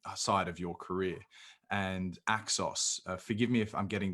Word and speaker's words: Naxos: And Naxos, forgive me if I'm getting the publisher's name wrong. Naxos. No, Naxos.